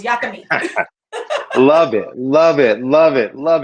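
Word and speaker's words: yakamein: delicious and it's called yucca meat spelled like y-a-k-a like maine but you know new orleans got to say it with that uh southern creole twang on it so it's yakimi love it love it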